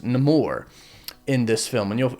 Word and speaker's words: Namor: um Baku you just nameor or nemour which no spoilers but you'll find out why he's called uh it's actually not pronounced name or it's nemour in this film and